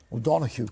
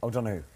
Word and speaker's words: O'Donoghue: O'Donoghue. Come on, say it like O'Donoghue. Oh, so much better.